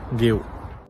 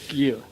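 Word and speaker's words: Guéhi: Hey Blues, this is how to say my name, Mark Guehi. Mark Guehi.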